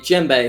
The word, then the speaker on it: djembe: Say it like it's a gemstone. Djembe. 2. I'm not going to say it anymore because I'm going to continue to say it wrong, and you guys are going to continue to tell me how to say it. And I'm not going to get it. Just making sure you don't say Jim, as in the name Jim.